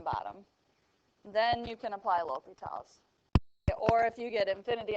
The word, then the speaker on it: L'Hôpital: Okay, so it's pronounced L'Hôpitals, but it's spelled L and then apostrophe hospitals.